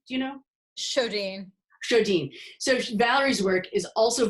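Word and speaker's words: Sjodin: How do you pronounce her last name? Do you know? Shodine.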